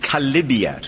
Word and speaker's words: chalybeate: They call it a chalybeate spring. It's actually a mispronunciation of chalybiat from the Greek, and it's a filthy thing, like a car sump down in the pan tiles.